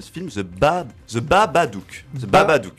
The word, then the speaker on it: Babadook: The Babadook. C'est Baba, comme Baba Brom. Comme Baba Bibel. Comme Babelwed. Non, c'est Baba. C'est pas Babel. C'est The Babadook.